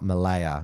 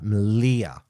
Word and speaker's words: Malia: That's how you pronounce it, not Malaya. Malia, of course, is the husband of Laura Towler, who's essentially a co-leader of Patriotic Alternative with Mark Collette.